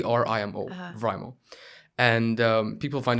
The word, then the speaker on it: Vrimo: actually the reason my name is VMO v r i m o rimo and um people find it very hard to pronounce the name so sometimes it to v